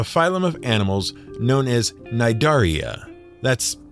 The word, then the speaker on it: Cnidaria: Hydra are members of a phylum of animals known as Cnidaria. That's Cnidaria. The C is silent.